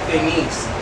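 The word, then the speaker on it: Denisse: Y yo soy Denise, que se pronuncia Denise, pero se escribe con doble S y E al final. Yo acentúo su nombre en la primera sílaba y el mío en la segunda.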